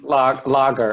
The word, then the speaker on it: lager: a type of beer and how do you pronounce that type of beer major lorry not Lego okay lager it's a lager marker and then you have